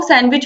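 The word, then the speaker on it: sandwich: Question आता है तो आपको याद रखना है कि इसमें डी साइलेंट है। भले ही हम सैंडविच पढ़ते हैं, हम जल्दी में बोल देते हैं, लेकिन इसका जो शुद्ध उच्चारण होगा वो सैंडविच होगा, इसीलिए यहाँ पर डी साइलेंट होगा, ठीक है?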